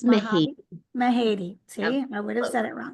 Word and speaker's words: Mahady: I'm going to say her last name wrong, so I'm going to let you say that. It's Mahate. Mahadi? Mahadi.